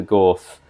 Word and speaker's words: gauth: not only didn't fight the gauth, but the gauth... I'm assuming that's how it's pronounced, I should have looked this up earlier. "Gauth." GAUTH! I've been saying it wrong.